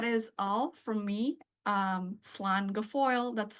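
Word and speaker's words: slán go fóill: the past that is all from me um slan G Foil that's how you say it in Irish it's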